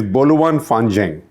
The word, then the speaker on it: Boluan Fanzheng: So this expression is Boluan Fanzheng. My Chinese pronunciation is obviously not perfect.